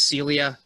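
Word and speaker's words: Silja: that we kept saying sill juh si lja is not pronounced as oj it is pronounced as Celia it is a strange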